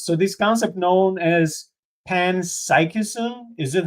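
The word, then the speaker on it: panpsychism: So this concept known as pans psychism is it how you pronounce it? Okay. Yes. Yes. Pansychism.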